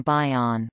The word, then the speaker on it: bion: Steele in 1958, possibly originating from the technical term bion, pronounced bion, from ancient Greek, bios bios, meaning unit